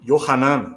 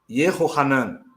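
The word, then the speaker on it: יְהוֹחָנָן: Yohanan, ou Yehohanan, que é a pronúncia correta, tá?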